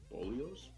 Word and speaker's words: bolillos: veggie frittata and some little Mexican breads called bolillos. Bolillos? Addy, quick, how do I pronounce that?